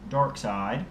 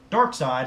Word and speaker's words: Darkseid: But Darkseid, as I usually like to think of him, as I personally like to pronounce it, because there is an I there, even if it is, closer to the E then.